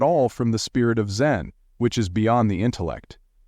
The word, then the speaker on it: Zen: or meditation that constitutes zen. Zen is simply the Japanese way of pronouncing dana.